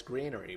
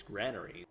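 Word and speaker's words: granary: how we can build a uh I've always pronounced it as greenery, but apparently it's granery.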